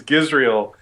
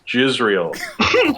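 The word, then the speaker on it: Giselle: jokes yeah um my my name is is gizel and people would often say it pronounce it as jizel and yeah and and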